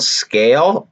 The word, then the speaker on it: SKALE: And then I have something called Scale, and the reason why I have Scale is because, but they spell it weird. It's called SKALE.